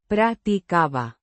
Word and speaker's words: practicaba: The imperfect tense indicates an ongoing or habitual action in the past pronounced Practicaba. with the stress on the second syllable. The B. is a soft B. sound.